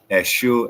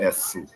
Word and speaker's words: Esu: Elife and Oyo, you know, the kingdoms that they got different pronunciation of S's and stuff. So Eshu, Esu, Eshu, Esu.